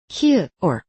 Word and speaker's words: 부엌: Un batchim "ㅋ" [k] o "ㄲ" se convierte en el sonido "ㄱ" [g] '윽' , así que '부엌' (cocina) se pronuncia como '부억'.